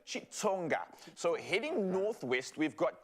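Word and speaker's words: Xitsonga: This starts with an X, so it always confuses me in our country because sometimes you pronounce it with a chi or sometimes it's a click. With this one, apparently it's Chitsonga.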